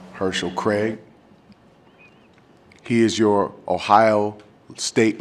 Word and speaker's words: Herschel Craig: His name is spelled like Hearsel, H-E-A-R-C-E-L, Herschel Craig.